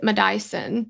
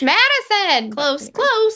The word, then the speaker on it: Madyson: And she pronounced it Madyson. Oh. Like almost like my Dyson blow dryer, like a Madyson. But it was really funny. I was like, it's Madyson. Close.